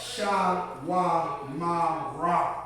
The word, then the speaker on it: Shawamara: Shaw, Ma, Ra. But that's not what it is. It's not Shaw, Ma, Ra. It's Sha, Wa, Ma, Ra.